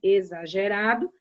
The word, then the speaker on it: exagerado: X com som de Z, que é o exemplo das palavras exame e exagerado. Soa-se o Z, mas escreve-se com X.